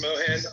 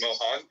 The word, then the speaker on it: Mohan: but it's actually pronounced Mohan like M mam but that's like it it it all depends if you want to pronounce it with like Indian accented English or like American accented English and then the funny